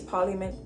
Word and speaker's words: parliament: It's incorrect. Okay, it's parliament. It feels unnatural, but you have to kind of redo it because when you're trying